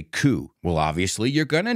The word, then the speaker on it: coup: We don't pronounce it coup, we say coup.